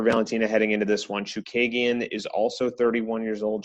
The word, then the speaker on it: Chookagian: to Drake Ricks, because we now know how we have to pronounce Caitlin Chookagian. He asked her in the interview how he should pronounce it. So now we know. Chookagian? Chookagian, yeah.